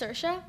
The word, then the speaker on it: Saoirse: to pronounce her name it's spelled s a o i RS e but it's pronounced sersa the interview is actually